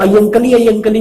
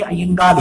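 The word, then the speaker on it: അയ്യങ്കാളി: हम लोग अयंकली बोलते हैं, वो अयंकली नहीं, अयंगाली है जो उसका सही मलयाली प्रोनाउंसिएशन है।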